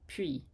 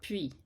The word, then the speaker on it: puis: It also doesn't help that many textbooks write pronunciation explanations with English sounds, so they'll write P-W-E-E for puis. And in fact, it's not a W sound at all, certainly not